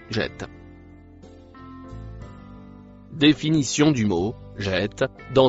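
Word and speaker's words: جاءت: Le mot bleu foncé se prononce jette.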